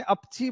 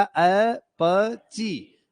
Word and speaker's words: अपची: तो मैंने कहा ये आप लोगों ने अपची बोला, इसलिए मैंने उसको सही उच्चारण करके बताया, अपची।